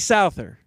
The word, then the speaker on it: Souther: just said it right s see it's JD Souther uh anyway we'll play his big hit coming